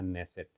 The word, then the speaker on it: Knesset: है उसका नाम है नेसेट। इसका स्पेलिंग के से स्टार्ट होता है, KNESSET।